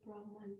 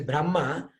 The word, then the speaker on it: Brahma: So the Brahma with a long A is Lord Brahma, and with a short A is the Vedas.